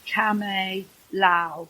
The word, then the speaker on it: Kamay Lau: One of the people I met was Kamay Lau, and that's how you pronounce it. She said to me, remember it this way, Lau as in lousy, but I'm not so lousy.